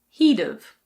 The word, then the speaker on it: he'd've: He would have can be said as he'd've.